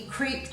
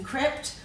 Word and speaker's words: crept: We don't say he creeped along, we say he crept. So we're going to drop it to a short vowel sound for the E, crept, and rather than